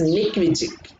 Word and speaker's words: Nick Vujicic: Vujicic అని ఉంటుంది, but you should pronounce it as Nick Vujicic.